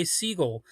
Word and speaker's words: Segall: and it turns out you do pretty much pronounce his last name just like the bird.